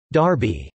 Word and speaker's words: Derby: after Chester England Darby derived from Derby pronounced Darby the county town of